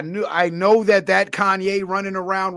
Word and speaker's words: Kanye: him out and I didn't know how to pronounce his name. So, I'll call him Kane West until I learned his name was Kanye. But that hand, man, those